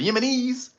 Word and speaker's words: Yemenis: The Yemenans. how do you say Yemenis? The plural. The Yemenis.